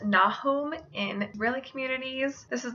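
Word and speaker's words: Nahum: that out as well name is typically pronounced na home in rayleigh communities this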